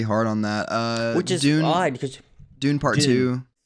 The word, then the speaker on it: Dune: really blanking pretty hard on that uh odd Dune part two it's pronounced dun are you being serious I'm being